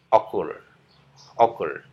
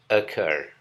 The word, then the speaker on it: occur: punya makna terjadi ya sering kita dengar pengucapan yang salah dengan diucapkan sebagai occur over padahal kata ini diucapkan dengan pengucapan atur atur atur ini bukan over atau occurs tapi ekor Oke kita lanjut ini